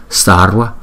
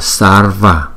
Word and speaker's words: sarva: Nếu chữ V đứng sau một phụ âm, ta có thể đọc nó là "w " hoặc "qu" sarwa, sarwa.